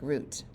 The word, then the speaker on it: Ruth: kidding he loves punching root American style name Ruth in Spanish it sounds like root business-minded Adventurer Ghost Whisperer